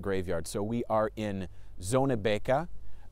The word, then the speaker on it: Zonnebeke: So we are in Zonnebeke. My Flemish isn't great, but I believe that's the approximate pronunciation here in Belgium.